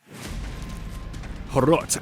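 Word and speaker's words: Hrot: Horot, and yes, that's how it's pronounced.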